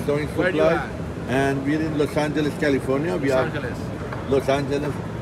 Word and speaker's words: Los Angeles: You gotta say Los Angeles. It's not Angeles.